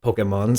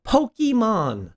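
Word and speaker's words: Pokémon: mark over the E most anyone I've ever heard speak about Pokemon says Pokemon why is that it clearly comes from the word pocket and I don't say pokit furthering this point let's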